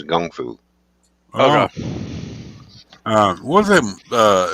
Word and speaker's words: kung fu: which we call a Kung Fu over here but the correct pronunciation for Chinese boxing is Chinese Gung fu okay uh was it